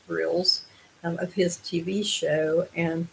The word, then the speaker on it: Grylls: Grylls is Gryll apostrophe S, of course. Pretty sure it would be pronounced Grills, of his TV show.